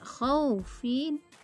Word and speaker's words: khawf: Kata khawfin dibaca khawf.